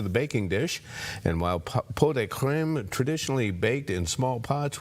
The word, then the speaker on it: pot de crème: If you spell it out, it looks like Pots de Creme, but it's pot de creme.